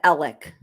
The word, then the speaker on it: Alex: and everything is it Alex or is it Alec Alec it's spelled Alex but they pronounce it Alec okay so knowing everything